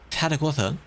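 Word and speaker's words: Tarragona: Tarragotha. Because they say it like that in the same way you go Barcelona, not Barcelona.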